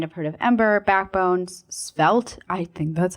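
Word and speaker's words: Svelte: So like you might have heard of Ember, Backbone, Spelt, I think that's how you say it, right?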